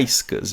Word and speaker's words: iSCSI: aqui a opção icec a pronúncia é icus tá legal iscsi como